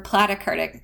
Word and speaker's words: platykurtic: blue distribution is platykurtic I like to remember platykurtic by thinking that plat rhymes with flat the platykurtic distribution is